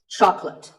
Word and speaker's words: chocolate: When you ask for this at the store, make sure that there are only 2 syllables. Choc and let. Chocolate. And remember, there's no late in chocolate.